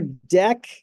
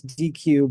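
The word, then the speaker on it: deque: Uh, so there's our deck. I used to call this DQ, but apparently that is not how you're supposed to pronounce it.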